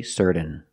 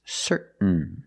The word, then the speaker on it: certain: in t-a-i-n example certain you can say certain or certain but don't say certain it's certain what makes you certain